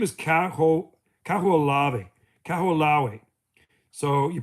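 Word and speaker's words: Kahoʻolawe: Cahoo Lave. Cahoo. So, you pronounce it Cahoo Lavi.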